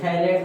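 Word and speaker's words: phthalate: अच्छा देखिए भाई थैलेट में पीसाइलेंट रहता है।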